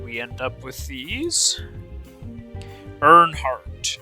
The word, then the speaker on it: Earnhardt: Earnhardt is the pronunciation.